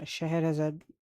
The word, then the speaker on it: Scheherazade: Uh, same for the Scheherazade, I guess, new font. That's how it's pronounced.